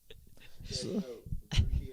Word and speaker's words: Russia: Rushi, Ohio. What? It's spelled Russia. Oh no, Rushi. Rushi.